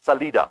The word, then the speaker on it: Salida: I mean, like, these are butchered Spanish. It's Salida, my friend. It means exit, and not Salida.